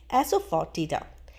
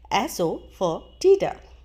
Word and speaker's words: asafoetida: को पता भी होता है तो उन्हें सही प्रोनाउंसिएशन पता नहीं होती। तो चलिए सीखते हैं हींग को इंग्लिश में कहा जाता है एसो फॉर टीडा। एसो फॉर टीडा।